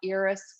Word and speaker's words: Iris: really great resources uh there's a book by eris spelled like iris like the flower but pronounced iris